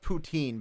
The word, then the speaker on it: poutine: fries yeah oh boy also this is pronounced poutine by the way not oh no that